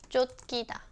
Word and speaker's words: 쫓기다: Oh, when 치읓 is used as a final consonant, you also pronounce this as 디귿, like this. 쫓기다.